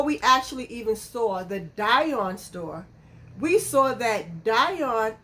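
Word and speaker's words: Dyon: I think that's how you say it, Dion, like D-Y-O-N.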